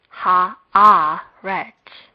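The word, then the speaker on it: הָאָרֶץ: Generally, the last syllable would be stressed, but in this case, the mark indicates that a stress is put on the a.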